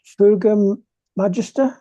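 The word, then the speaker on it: Fouga Magister: This is the Airfix 172 Fuga Magister. Is that Yep.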